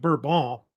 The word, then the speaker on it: Bourbon: the Duke of Bourbon, which they actually pronounce it Bourbon, so they say in France.